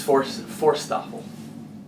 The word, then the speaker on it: Forsthoefel: Tell us how to pronounce it. I'm getting there, just arriving. It's Forsthoefel. Forsthoefel.